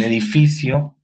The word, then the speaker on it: edificio: En edificio es la sílaba fi.